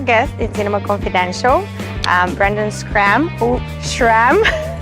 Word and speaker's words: Schram: Schram.